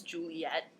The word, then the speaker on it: Juliet: Okay, now normally Juliet is 3 syllables, Juliet, but for that line, it's functionally 2.